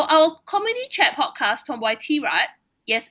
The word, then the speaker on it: T-Rat: So our community chat podcast, Tomboy T-Rat, yes, it's pronounced as T-Rat, not tirade, but T-Rat, the way we like to say it, featuring both of us, has become Asia's biggest all-female comedy chat podcast.